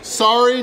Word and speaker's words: sari: off their brand new Sari Not Sorry Filipino food challenge. Now, I've only got 45 minutes to finish everything here, and it is Sari Not Sorry. The first sorry is spelled S-A-R-I, and that basically means variety.